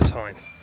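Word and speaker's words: Teign: Bridge itself, and also it's following the River Tyne. I think that's how you pronounce it. So yeah, it should be a nice little walk. I've just been corrected, it's the River Tyne.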